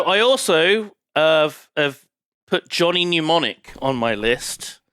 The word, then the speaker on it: Mnemonic: Is it not pronounced mnemonic? No, it's mnemonic. M-N-E.